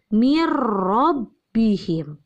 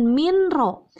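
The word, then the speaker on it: من ربهم: dengan huruf ro maka cara membacanya n-nya dileburkan langsung masuk ke rok begitu sehingga cara membacanya mirrobbihim Jangan mint rok tapi mirrobbihim kenapa dibacanya mirrobbihim Wah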